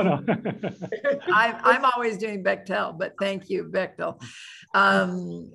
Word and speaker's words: Bechtel: think it's polite to say their name is bechtel yes bechtel bechtel sorry thank you maybe you were the one that said that bechdel no no i i'm always doing bechtel but thank you bechtel um so um oh